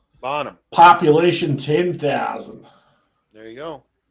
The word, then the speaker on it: Bonham: Is that how you say that, dude? Bonaham, or am I saying it wrong? No, there's no. It should be Bonaham. Bonham.